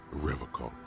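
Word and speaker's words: Revachol: He pronounces Revaccom with a hard K.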